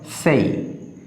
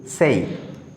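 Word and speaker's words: say: তারপরে সেই। খেয়াল করো এখানে যে এই ওয়াই রয়েছে এর জন্য এই সিম্বল হয়েছে, তাহলে আমরা এটা প্রনাউন্স করব সেই। বন্ধুরা আমরা এই শব্দটার উচ্চারণও ভুল করে থাকি, আমরা বলি সে, বাট ইট উইল বি সেই।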